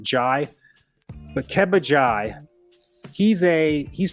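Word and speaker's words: Njie: it's it's spelled k-a-b-b-a now the last name is n-g-i-e I I confirmed that you pronounce it Jai but kebajai he's a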